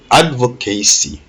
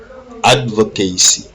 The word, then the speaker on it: advocacy: L'accent aussi est mis sur le ad. Advocacy. Advocacy.